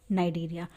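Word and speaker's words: Cnidaria: बोल दे या फिर नाइडिया ठीक है देखिए डेरिया इसको लिखते सी से है लेकिन सी यहां पर क्या होता है आपका साइलेंट होता है ठीक है तो देखिए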